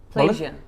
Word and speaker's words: pleasure: এটা প্লেজার না, এটা হচ্ছে উচ্চারণটা হচ্ছে প্লেজার। Pleasure.